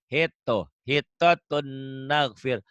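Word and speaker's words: حطة نغفر: Ditulisnya ada hitotun, ada n-nya, dibacanya n-nya hilang. Hitotun naghfir.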